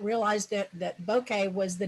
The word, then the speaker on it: bokeh: it's not bokeh. It's bokeh. Bokeh, bokeh. Okay, bokeh. Well, actually, in our practice leading up to this, that's the thing I asked Dennis to sort out was, how do you say this damn word? And It's like Martin, Ed. and Martin Bokeh. went out and found one on the internet where you could play it back how to say it, and it's like a bouquet of flowers.